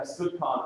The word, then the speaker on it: Skutchan: Yeah, Skutchan, right, is how it's pronounced. Apparently, it's the Americanized version of a Czech name.